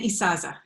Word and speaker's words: Isaza: How do you pronounce it? Isaza? It's Isaza.